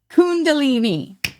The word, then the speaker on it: Kundalini: Uh you guys also uh released I I can't pronounce How do you The most recent single, how do you pronounce it? Kundalini.